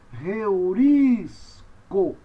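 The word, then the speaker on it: εὑρίσκω: Com a aspiração áspera tem som de R ou do H em inglês, você pronuncia então reu, reurisco, reurisco. Olha onde está o acento, no iota, segunda sílaba, a sílaba é proparoxítona.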